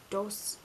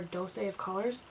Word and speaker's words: Dose of Colors: I think it's pronounced Dose or Dose of Colors.